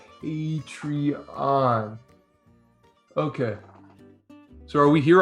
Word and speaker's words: Patreon: can you read it does that say patron no well remember about the pronunciation patreon read it what's it say patreon okay so are we